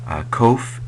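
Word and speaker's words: קוף: transliterated with a Q it's probably pronounced with uh your tongue a little bit against your pallet k k k um so it's it's not it's a not a k it's a um kind of a sound and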